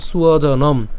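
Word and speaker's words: স্বজনম্: কেন সুয়জন? এখানে আমাদের কি ব আছে? অন্তস্থ ব আছে, আর অন্তস্থ বয়ের উচ্চারণ কার মতো হয়? উয়োর মতো হয়। তার মানে সেজন্য হচ্ছে আমরা কি উচ্চারণ করবো? সুয়জনম, হ্যাঁ, সুয়জনম, অর্থাৎ বর্গীয়াজ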